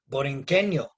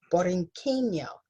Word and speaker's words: Borinqueño: Did I say it right, Leonie? Borinqueño. Borinqueño, thank you, sir.